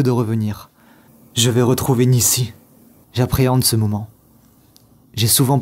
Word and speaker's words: Nisí: Cet après-midi, avant de quitter mon île, j'ai écrit sur le sable N-I-S-I avec un accent, prononcé Nissi.